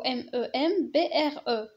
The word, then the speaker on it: membre: membre هو طرف معادلة، هنايا ماشي member، هذيك member في لونجلي وكنكتبو MEMBER، ولكن في الفرنسي كنكتبو MEMBRE وكنطق membre. membre ماشي member كيف قلنا هذيك اونجلي.